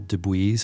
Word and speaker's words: DeBuys: by a guy named Bill DeBuys, I think is how you say his last name. It's Debuys. Bill DeBuys is an Easterner